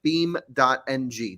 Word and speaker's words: BeamNG: that name again sorry beam dot NG just like like a wood beam okay and uh yeah